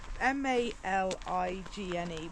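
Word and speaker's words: Maligne: It's spelled M-E-L-I-G-N-E. So M-A-L-I-G-N-E, malign.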